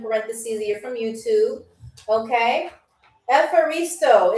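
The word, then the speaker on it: ευχαριστώ: Efaristo. It is spelled Efharisto. Efaristo.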